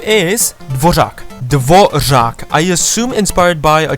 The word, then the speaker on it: Dvořák: The NPC's name is Dvořák.